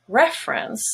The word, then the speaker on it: reference: but it changes in reference where the first e is no longer a schwa because it's stressed and it has the red vowel and everything else is a schwa reference so remember know